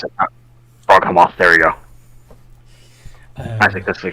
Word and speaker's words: Froghemoth: Because it's like Frog Behemoth.